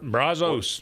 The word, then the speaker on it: Brazos: the Braz, if I'm pronouncing that right, Brazos River. Brazos, where you can not at Auburn where you go and tailgate, you can actually sailgate at the river.